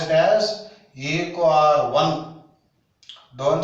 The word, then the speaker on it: EcoRI: Sorry, don't pronounce it as EcoRI. You have to pronounce it as EcoR1. 1 means first order of identification. So you have to pronounce it as EcoR1. Don't say EcoRI.